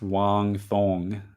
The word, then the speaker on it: Wang Cong: especially the standout finish of the night it's pronounced Wong thong that's funny hey Chris will we ever see